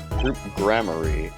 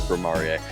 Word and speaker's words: Gramarye: Troop grammar. Huh? No. Is that how it's pronounced? Yes. And that's why that's why we were saying it before you read it as Grimarier.